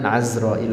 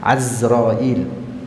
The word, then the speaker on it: Azrail: Azrailu dan Azrail. Bacanya dengan fathah ain. Azrail, bukan dengan kasrah, bukan dengan Azrail, tapi Azrail.